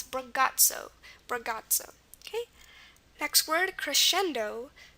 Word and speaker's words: crescendo: Okay, next word, crescendo. Crescendo, CR is pretty normal. Again, the C sound at the beginning could be C or CH, but here we're fine with the C because a consonant follows it, and R does.